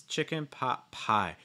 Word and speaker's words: chicken pot pie: on the last word so for instance chicken pot pie pie should be your heaviest stress chicken gets a little bit of stress pot gets reduced and then pie gets a heavy stress